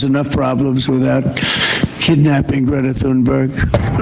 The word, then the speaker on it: Thunberg: I think Israel has enough problems without kidnapping Greta Thunberg. My name is Greta Thunberg, and I am from Sweden. Well, firstly, we've all been saying it wrong. I mean, that's an unsayable sound.